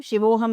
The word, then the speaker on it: Shivoham: So when it is a long sound at the end, it refers to Shakti. So Shiva, Aham, Shivoham means I am Shiva. Shivaham means I am Shakti.